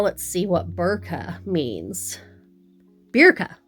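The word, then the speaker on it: Birka: Berka. Berka, not Burka.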